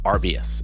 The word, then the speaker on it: Arbius: going to pronounce this right but what is Arbus and is that how I pronounce it because that's how I've been pronouncing